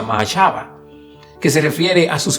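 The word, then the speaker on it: מחשבה: pensamiento, esa es la palabra hebrea que se pronuncia mahashava, que se refiere a sus planes y propósitos y razonamiento.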